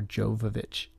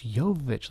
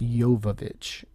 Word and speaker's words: Jovovich: this movie uh Michelle Rodriguez keeps calling her Jovovich and I love the joke where Miller goes it's yovich like I made a whole movie with you